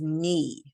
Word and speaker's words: knee: Okay, and then we have a string, a whole list of words that have a K in front of it, but we never say the K. So this word here is knee.